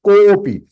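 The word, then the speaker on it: कोऽपि: It is to be pronounced as kopi. Means ko. Ko little one time you have to extend.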